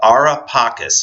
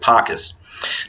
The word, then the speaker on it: Ara Pacis: Also, there's a monument that was located near Augustus's mausoleum, which was called the Ara Pacis. It looks like it's sometimes pronounced in Italian Ara Pacis, but I pronounce it Pacis.